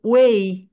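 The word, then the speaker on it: way: এটাকে ওয়ে মানে পথ। পথের ইংরেজি ওয়ে বলি, কিন্তু রাইট প্রোনাউন্সিয়েশন হবে ওয়েই। বলো।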